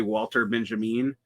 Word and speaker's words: Walter Benjamin: is totally unrelated but why would you pronounce the first name not in the ethnicity vter uh and not pronounce the second name I mean and pronounce the second name ethnically Benjamin as opposed to